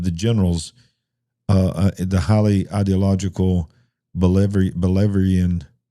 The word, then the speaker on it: Bolivarian: Apparently, her first decisions were not to the liking of the generals, the highly ideological Bolivarian, how do you say that? Bolivarian.